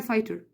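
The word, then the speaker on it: fighter: طب فايتر again فاي GH silent، فيبقى عارف ان في GH في الورد هي unsound، ما تقلهاش صوت اصلا، بس اوريدي اجباري عليك انك تكتبها فاي GH silent tear.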